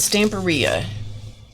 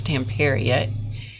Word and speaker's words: Stamperia: They insisted that it was Stamperia. Now, whether you say Stamperia or Stamperia, which my understanding is that it's Stamperia, in the whole scope of life, it really doesn't matter.